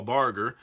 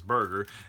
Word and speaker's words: Barger: in people's last names my good friend Paul Barger bar yes Paul Barger I normally say his last name is Berger and then we just